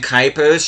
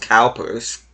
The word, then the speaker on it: Kuipers: You can see Brian Kuipers showing, or actually I think it's supposed to be pronounced Cowpers.